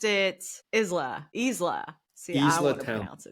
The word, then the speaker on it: Isla: You pronounced it Isla. See, I Isla want to Talent. pronounce it Isla. No, it's Yeah, Isla.